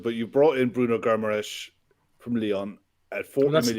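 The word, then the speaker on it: Guimarães: But you brought in Bruno Guimaraes from Lyon at 40 million. That's a nice pronunciation, Kev.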